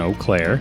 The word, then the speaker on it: Eau Claire: It's going to be at the Hickory Hills Golf Course, which is in Eau Claire. I said it right.